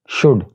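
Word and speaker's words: should: तो यहाँ पर एल is silent, it's शुड नॉट शुड।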